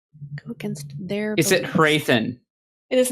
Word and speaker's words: Hrathen: or her beliefs go against their is it hrathen it is not wrathan i love how you just someone said something we just pronounce it different way i love it it's